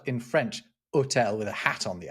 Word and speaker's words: hôtel: Then hotel, right, which is spelled in French, hotel with a hat on the O.